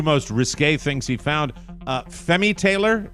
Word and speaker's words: Femi Taylor: Femi Taylor, am I pronouncing it, or is it Femi Taylor? It's Femi Taylor as Ula in Star